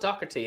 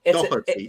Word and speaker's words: Doherty: It's not Docherty, and I'm getting used to saying that. It's the. Yeah. How do you actually say his name? There's no C in the name at all. It's just Doherty, isn't it? The H is pronounced like a H. In Ireland, we pronounce the letters the way Doherty.